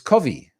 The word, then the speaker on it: Covve: first 24 hours and people said it's it's Kavi now think that's how you pronounce it CEO vv8 and